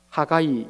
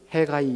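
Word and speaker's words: Haggai: 정확하게 번역한다면 하가이 이렇게 발음하는 것이 맞습니다. 미국 사람들이 이것을 해가이 이렇게 발음을 하기도 하죠.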